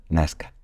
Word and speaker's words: Nazca: por sí mágico nazca lo escribimos nazca Pero ellos lo pronuncian nazca Supongo que sabrás lo